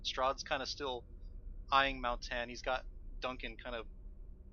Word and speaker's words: Maoh'tann: Believe the name was Maoh'tann, correct? You are correct. Pronouncing it right.